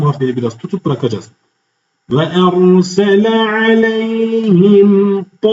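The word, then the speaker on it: عليهم: Aleyhim. Aynı şekilde eee sesi e sesiyle karışmaması lazım. Ale değil a sesiyle verilmez. Aleyhim. Aleyhim. Genelde y'ye hareke veriliyor.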